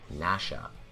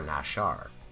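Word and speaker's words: נשה: Hebrew words are pronounced the word quoted in the image is actually pronounced Nasha or nashar and does mean to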